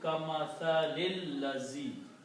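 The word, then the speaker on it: كمثل الذي: So the pronunciation will be kamathalil lazi. All three of these together will be recited as ka matha lil ladhi. You don't pronounce this alif in between, and you combine this lam with this lam.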